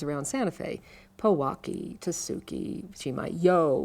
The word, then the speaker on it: Chimayo: Powaki, Tasuki, Chimayo with the yo on the end of it.